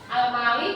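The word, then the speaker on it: Al-Malik: Almalik artinya apa? Yasir di sini bacanya almalik artinya maharaja.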